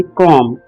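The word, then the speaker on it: comb: दोस्तों, इस वर्ड में बी साइलेंट है, हम कॉम्ब नहीं कहेंगे, हम कहेंगे कॉम्ब।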